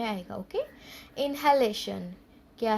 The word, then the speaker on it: inhalation: Okay, इनहेलेशन क्या है word? INHALATION. इनहेलेशन means we breathe in air through our nose, that is इनहेलेशन.